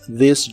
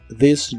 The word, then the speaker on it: this: La TH de this se pronuncia como una D vibrante y la J de job se pronuncia con el sonido J que usas en la palabra George. This job, this job.